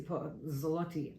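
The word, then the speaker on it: złoty: So the difference was 9 Polish currency, zloty, I believe is how it's pronounced, and which is, yes, it's equivalent to not even $3.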